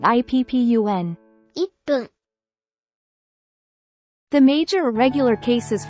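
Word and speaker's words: 一分: Replace this with PP, making it PPUN. For the ichi part, the process is the same as before with ko or to. Remove chi from ichi, leaving just I. Then, add PPUN after it, making it IPPUN.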